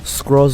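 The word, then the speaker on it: Scrooge: cruise কোন ধরনের মানুষ তবে নামার উচ্চারণটা আসলে স্ক্রস হবে কিন্তু আমি সহজ করার জন্য ক্রুজ বলছি তো যাই হোক এরপর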